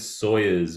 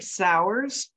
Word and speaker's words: Sauers: I think I said Sawyers before, but I'm It, wondering. which is fine. It's actually Sauers, but Sauers.